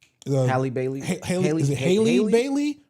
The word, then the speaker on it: Halle: No, it's where you got to decipher between Halle or Haley. Maybe Wikipedia will have the pronunciation. Halle Bailey. Okay, Wikipedia. Come on now, we need better. It says AE is A. Yeah, Haley.